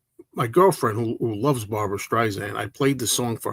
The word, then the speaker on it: Streisand: Somebody told me it's not Streisand with a Z. Don't say Streisand. It's Streisand.